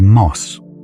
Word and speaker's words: mos: The Cree word for moose is moss. Short, clean, one syllable, like the sound a river makes moving over a shallow stone.